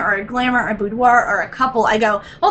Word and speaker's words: boudoir: But boudoir, how do you say that?